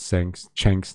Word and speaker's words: Cenk: Yes, Cenk is said like Cenk, Hasan's uncle.